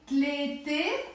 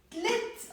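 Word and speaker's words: تلت: this case, ashkhas, do I say tlete, ashkhas in the Lebanese accent? No, that would be wrong. We say tlit, ashkhas. We drop the a or the a sound.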